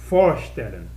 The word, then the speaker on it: vorstellen: Quando o verbo partícula separável, vorstellen. Vorstellen. Quando esse for estiver na última, se é a última palavra da oração, como partícula separável, vira a sílaba tônica.